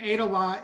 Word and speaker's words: Aydelotte: say your last name begin date a lot like he ate a lot for lunch I didn't want to say wrong Jim ADA law is a real state